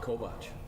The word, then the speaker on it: Kovach: So we're lucky enough, if I pronounce right, Tim Kovach? Kovach. Kovach, okay. Yeah, everybody gets it wrong, it's fine.